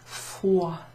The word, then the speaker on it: froid: Froid. Remember that oua sound? You don't pronounce the D.